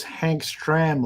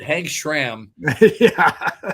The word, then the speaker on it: Hank Stram: to know what was Hank's tram like look I pronounced it correctly Hank stram well sender would have said Hank Schram Hank was uh wow